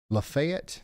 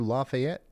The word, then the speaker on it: Lafayette: Lefayet. You guys don't do Lafayette. Lefayet. Gotcha.